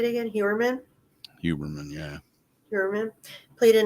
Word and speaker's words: Heuermann: Huberman, yeah.